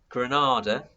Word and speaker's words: Grenada: And in Grenada, the Caribbean islands, which is pronounced very similarly to the Spanish city, they actually invade Grenada in 1983.